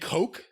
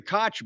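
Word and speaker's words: Koch: the right wing industrialist no they're the Coke brothers it's spelled the same way it's spelled the same way one's or one's Coke and one's cootch there's no [ __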